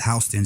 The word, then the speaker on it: Houston: H or spell Houston but he say he pronounced it houseon is the CEO and when you think about